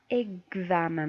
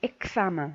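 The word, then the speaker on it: examen: دونك كتسمعوا معايا النطق اكزامان ماشي اكسامان نو.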